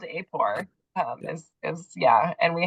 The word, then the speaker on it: AAPOR: their chapter affiliations so yeah apore is the way we we affectionately refer to it it's a great question